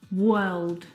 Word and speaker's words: world: but this is incorrect the vowel sound is actually uh as in her work world word uh